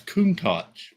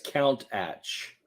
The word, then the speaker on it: Countach: No, it's Countach. Lamborghini. Molly. Where's right there? Countach. That says Count Atch. It's pronounced Lamborghini Countach.